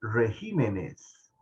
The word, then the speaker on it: regímenes: palabra porque vean que la palabra régimen en singular tiene el acento en la e régimen pero cuando nos pasamos al plural estamos en clases de español en este momento el acento la tilde verdad se brinca de la e a la i Entonces se pronuncia regímenes que no les vaya